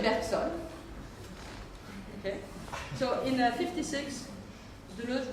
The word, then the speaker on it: Bergson: Bergson is pronounced in French Bergson because most of my American friends pronounce it Bergson, which tries to be French, but don't say it in French. Nobody understands. So we say Bergson.